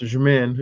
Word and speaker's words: Jmin: It says pronounced Jmin. It's one syllable.